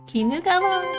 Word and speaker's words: 鬼怒川: ですいきましょうちゃん鬼怒川正解こちら鬼怒川と読みます日本三大河川の